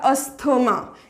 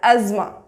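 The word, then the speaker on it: asthma: Okay, अब है हमारा अस्थमा। इसे हम बोलते हैं अस्थमा या एस्थमा। ये रॉन्ग है, एज़मा, एज़मा। इसको क्या बोलना है? एज़मा, एज़मा। ये हमारा करेक्ट प्रोनाउंसिएशन है, एज़मा, नॉट अस्थमा, इट्स एज़मा।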